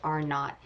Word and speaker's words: R naught: It looks written out like R0, but it's pronounced R naught.